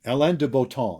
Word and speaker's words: Alain de Botton: Alain de Botton. I think that's the French pronunciation, although he writes in English.